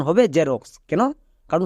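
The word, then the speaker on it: Xerox: জেরক্স একে আমরা এক্ষুনি এক্স রক্স বলে জানতাম বাট আজকের পর থেকে একে আমরা সঠিক উচ্চারণ করব এর উচ্চারণ হবে জেরক্স কেন কারণ শব্দের শুরুতে এক্স আছে তাই এক্স এর জন্য কি হবে বর্গীয়জ তাই এক্স এর জন্য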